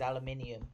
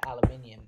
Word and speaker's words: aluminium: There is an I in it, therefore it is aluminium. Because I pronounce it aluminium because there's an I next to the U and N.